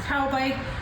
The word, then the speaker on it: Taubik: 2025 Taubik is the brand, Taubik, pronounced Taubik, and this is the 29T.